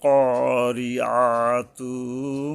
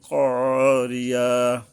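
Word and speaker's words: قارعة: আল কারিয়াতু মাল কারিয়া, এই তারপরে মাল ক, ওই একই নিয়ম, মানে কারিয়া হবে না, করিয়া হবে, ক হলকের গোড়ার থেকে শক্তভাবে আদায় হবে।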